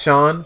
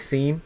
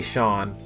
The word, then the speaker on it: Sean: very good track mm-hmm my older brother pronounced Sean from Battle Network like scene I I did that too listen there's two vowels right next to each other and the E comes first a reasonable mistake right most